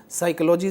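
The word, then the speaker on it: psychology: उपस्थित बरहता है और हम बात करते हैं साइकोलॉजी जैसे शब्द को या साइक जैसे शब्द की इसमें देखते हैं हम पी वर्ण जो है वह साइलेंट रूप में है वही नॉट नॉक नॉब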